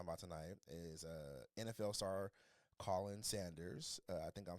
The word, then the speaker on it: Khalen: I know it's not Khalen, though. It's not Khalen. It's Khalen, baby.